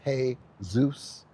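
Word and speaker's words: Jesús: But when we go into Jesus, which is pronounced in in uh Spanish is hey Zeus.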